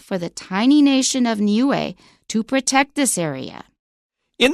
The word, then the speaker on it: Niue: how to pronounce it we've got three vowels and each one is pronounced separately so it's nuu n